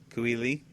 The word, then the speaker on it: Kui Lee: Written by Cooley. I think that's how you say it, Cooley. Kui Lee? K-U-I and then Lee. Kui Lee.